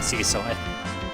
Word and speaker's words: Cecil: to alternate between saying Cecil and Ciso. It's pronounced Ciso, but most of the time when you hear that name, it's pronounced Cecil.